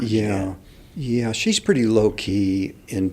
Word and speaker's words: Jeanette: Jeanette. She's a French-Canadian, and it's spelled gin like you drink.